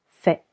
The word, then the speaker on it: fais: Je fais ends with letter S. Silent S.